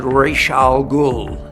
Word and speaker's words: Ra's al Ghul: As to the pronunciation, my daughter asked her language teacher at UCLA, and he said Raysh al Ghul.